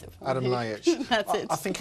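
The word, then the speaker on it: Adam Ljajić: Delio Rossi, the man everyone remembers as the guy who hit the Fiorentina player, Adam do you pronounce it for me? Adam Ljajic.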